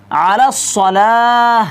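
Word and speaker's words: على الصلاة: না তো তারপর দেখুন আলাস সালা মে আইন আলাস সালা এই আইনটাতে আপনারা কি করতে পারবেন না হামজা লাগিয়ে দিতে পারবেন না এখানে আইন আইন করে উচ্চারণ করতে হবে তো তারপর দেখুন সালাতু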